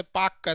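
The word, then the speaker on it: Palk: उन्होंने इसका नाम पाल कर रखा था जिसे पाकर तेल साइलेंट होता है तो यह आपका कौन सी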